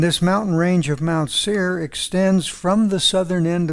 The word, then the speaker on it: Seir: sir mount seir s-e-i-r is the way i spell it in english the range of mount seer is located on the east side of the